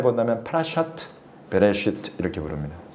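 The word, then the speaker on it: פרשת בראשית: 그래서 1주차 파라샤를 유대식으로 굳이 발음해 본다면 파라샤트 베레시트 이렇게 부릅니다. 파라샤에다가 그 주차의 제목을 딱 붙이면 파라샤가 파라샤트 이렇게 연결형으로 바뀌어요.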